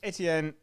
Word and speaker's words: Etienne: Yeah, so Etienne, and I'm going to pronounce it properly, 28 carries, 109 yards, 2 touchdowns.